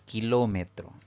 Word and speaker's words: kilómetro: la siguiente palabra es kilómetro es una palabra que tiene cuatro sílabas al pronunciarla la mayor fuerza de voz recae en la antepenúltima sí la va contando